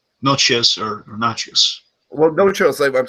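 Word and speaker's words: Natchios: Because it's spelled nachos, but it's always pronounced noches.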